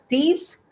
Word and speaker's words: Thebes: It's pronounced as Thebes, married to Jocasta.